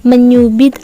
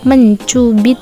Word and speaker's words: mencubit: Karena cara pengucapannya menggunakan bunyi menyuci menyubit, dan menyeburkan. Dan yang benar bagaimana? Yang benar, Aulia sedang mencuci baju. Dibah mencubit Ainis karena keluguannya.